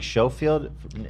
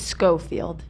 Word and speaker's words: Schofield: Why am I Am I saying Showafield? It's Scofield. Why she spelled it like Chafield then?